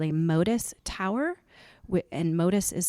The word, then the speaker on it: Motus: And also we're thinking, or we are, I should say, going to get what's called a MODIS tower. And MODIS is spelled MOTUS.